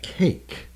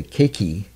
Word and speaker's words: cake: And it's interesting that usually the E will be silent, right? Cake. There's no, you don't say cakey, right? There's no cakey, it's just cake. So the E is silent.